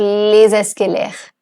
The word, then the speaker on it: les escaliers: Why I am pronouncing les over here? Because escalier is starting with a vowel E. So liaison, so les escaliers.